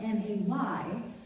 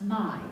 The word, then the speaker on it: May: No, all I mean is it's spelled M-A-Y, but it's pronounced My, not May.